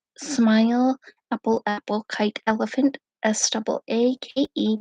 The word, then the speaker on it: Saake: Saake, pronounced like say what comes out of your mouth, and key, what opens a lock.